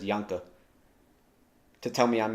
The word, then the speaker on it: Janke: Null always mispronounces it as Janke. It's Janke.